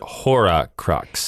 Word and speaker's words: Horcrux: Is it Horcrux or is it Horcrux? It's I've heard it pronounced H-O-R-C-R-U-X. So I'm saying Horcrux. Okay, I've just heard it. I've heard actors in those movies say it both ways.